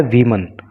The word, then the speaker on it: WOMAN: देखिए, WOMEN ये होता है वीमन। कभी कभी आपने पढ़ा होगा वूमन। अंतर क्या है कि जब हम एक महिला की बात करते हैं तो स्पेलिंग होती है WOMAN और उसको वूमन पढ़ते हैं तो वो एक वचन